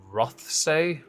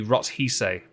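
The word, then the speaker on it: Rothesay: as The Duchess of rothsay I don't Scotland Scotland do something weird with their pronunciations and spellings they never sound like how they're spelled so I've no doubt got that wrong um it could be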